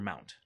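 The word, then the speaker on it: mnt: M-N-T, we pronounce that as mount.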